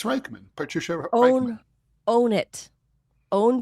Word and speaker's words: Rijksman: Reichman. Reichman. Reich, like the Third Reich, unfortunately. Like the Third Reich. Patricia Reichman. Mm-hmm. Mrs. Reichman. Patricia Reichman. Man, it's not a hard name. It's Reichman.